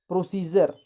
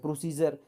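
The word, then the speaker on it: procedure: एल दिया है, तब डी का उच्चारण ज होता है। जैसे प्रोसीजर, यहाँ पे देखिए डी के बाद यू आर ई आया है तो इसको हम ज पढ़ रहे हैं, प्रोसीजर।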